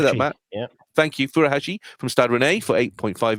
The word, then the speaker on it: Furuhashi: Thank you, Furuhashi from Stade Rennais for £8.5 million, and Marvin Duksch from Werder Bremen for £1.5 million.